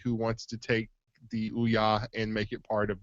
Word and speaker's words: Ouya: Ouya. Like the way a Marine would say it.